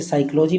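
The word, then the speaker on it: psychology: pneumonia से पीड़ित है जैसे साइकोलॉजी में थी साइलेंट होता है बट आई एम ग्रेट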